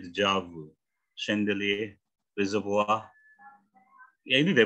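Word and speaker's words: déjà vu: Kalau pakai bahasa itu saja dijava. Enggak, bacanya dijavu.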